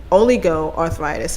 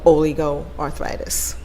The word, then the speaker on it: oligoarthritis: this arthritis this type of arthritis only go oligo arthritis and it's spelled just the way i say it o